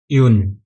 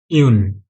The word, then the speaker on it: un: zero pronunciation पूरा same है next one यन यन अभी यह दोनों भी वन ही है ओके